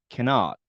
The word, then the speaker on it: cannot: 이렇게 붙어 있는 경우에는 n 발음이 두 개의 겹쳐 있기 때문에 이것을 cannot이라고 하지 않고요 can out can out 한글로 쓰자면 이런 느낌입니다 어떤 느낌요 개나 개나 개나 그래서 떨어져 있을 때